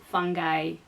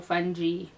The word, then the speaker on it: fungi: These include bacteria, viruses, fungi, or fungi or fungi. That word is usually pronounced differently.